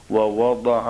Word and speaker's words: ووضع: تلفظ واضح کر دیجئے، ضاد قرآن میں جہاں بھی آئے گا وللضالین کی طرح ہوگا۔ میں پھر پڑھ دیتا ہوں، والسماء رفعها ووضع الميزان۔ آج کل گھروں